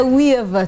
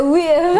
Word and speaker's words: Weaver: Please don't say weave. Yeah, Weaver.